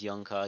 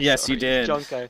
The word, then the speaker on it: Jonko: that I I just pronounced your name as yonko again I'm I'm very jonko I keep doing it's